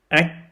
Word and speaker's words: ách: Okay, so when the CH falls at the end of a word, it sounds familiar like the K sound. But there are some differences between the K and the CH sound at the end of the word.